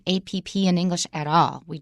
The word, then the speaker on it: app: good listener and also notice the way Wesley pronounced food delivery app so naturally this has got three nouns together first of all note that we don't say a PP in English at all we just don't say